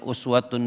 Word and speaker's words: uswatun: Kalau kita kembalikan ke ayat 21 ini, laqad kana lakum fi rasulillahi, ada yang bacanya uswatun boleh, ada yang bacanya iswatun juga boleh.